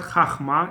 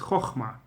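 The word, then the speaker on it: חכמה: It's not Chachma, it's Chochma with O. Even though it's Kamatz, but it's Kamatz Katan.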